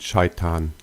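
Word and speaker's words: شيطان: In Arabic, they are pronounced as Ibrahim and Shaitan.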